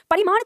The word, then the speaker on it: परिमाण: परिमाणवाचक और परिणाम दोनों में अंतर होता है, इसको तो सावधानी से उच्चारण करना है। परिमाण का मतलब होता है मापतोल, ठीक है।